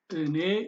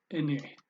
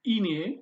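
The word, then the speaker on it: እኔ: You say ene, ene, and it's not ine, it's ene, ene, and it's I.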